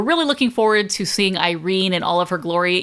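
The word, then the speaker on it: Eyerene: I had to look this up after, but the blob I mentioned before, her name is Irene, but it's spelled e y e r e n e, Irene.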